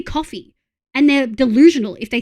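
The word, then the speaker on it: Ko-fi: Yeah, it's supposed to be coffee and they're delusional if they think Kofi is supposed to be coffee.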